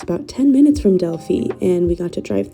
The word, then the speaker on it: Delphi: up about 10 minutes from that town to delie all my life I thought delie was pronounced Deli but after being here I learned that the correct pronunciation is delie um we eventually made it there and it